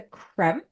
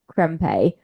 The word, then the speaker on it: Krempe: Professor Krem, who is ultimately the Krempe.